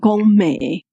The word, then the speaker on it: 糜: 糜嘛有人讲糜梅，甲梅仔的梅发音要相共，所以就甲即位叫做糜仔坑。